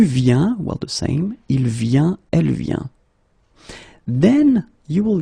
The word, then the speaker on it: vient: Okay, and phonetically it's it's the same form. So you get je viens, okay, tu viens, il vient, elle vient.